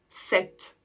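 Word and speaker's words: sept: 7 c'est une exception on l'écrit avec P t à la fin mais on ne prononce pas le P par contre on prononce le T 7 et comme la dernière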